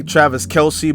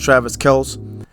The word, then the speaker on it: Travis Kelce: A lot of people say Travis Kelce, but technically it's pronounced Travis Kelce.